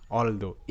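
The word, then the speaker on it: although: এইচ O Yuji H এটা হবে অলদো এল অল টি এইচ O Yuji H দো অলদো তো মাঝে মাঝে এরকম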